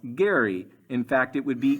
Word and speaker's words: Gerry: Elbridge Gerry but actually his name is pronounced Gary in fact it would